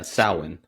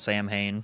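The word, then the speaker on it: Samhain: Yeah, sin. Because I think they even made that mistake in Halloween because they called it Sam Hayne.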